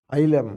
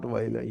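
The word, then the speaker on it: ylem: I said Vailam, but it has to be pronounced as Ilam, not Vailam.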